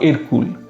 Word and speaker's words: Hercule: হারকিউলিস বা হেরাক্কলিসের ফরাসি উচ্চারণ ছিল এরকুয়েল বা এরকুল। সেখান থেকেই নামকরণ হয় এই চরিত্রটির এরকুল।